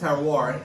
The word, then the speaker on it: terroir: Okay, terroir. Terroir is It's unbelievable. it's spelled terrier, right? But it's pronounced terroir, and it's from France, right?